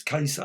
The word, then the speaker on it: Ka-Zar: as well not gaza i was called kazaar kaisar apparently it says pronounce kaiser of course khazar kaza